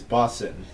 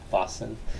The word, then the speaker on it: boatswain: So apparently the correct pronunciation is Boston. Boston.